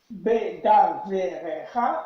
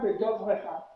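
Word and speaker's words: בְּדָבְרְךָ: Bedovrecha, pardon, Bedovrecha, bien sûr, absolument. Bedovrecha, syllabe, absolument. Bedovrecha, merci pour le tikkun, ici on a 6 syllabes fermées non accentuées. Merci à Nixie. J'ai regardé le mot devar, devarcha. Et tu as tout à fait raison d'ici de nous faire la remarque, bedovrecha, comme beshoftecha.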